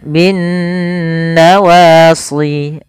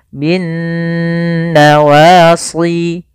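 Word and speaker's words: بالنواصي: atau mim berharakat tasydid cara membacanya yaitu suara nunnya kita tahan bin nawasi kesalahan yang sering terjadi tidak menahan gunahnya contoh binnawasi Wal aqdam nah ini sama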